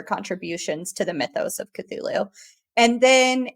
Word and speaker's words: Cthulhu: I, of course, had to look up the pronunciation for this, and now as I'm taking a look at the word, Cthulhu mythos. Oh yeah, Cthulhu.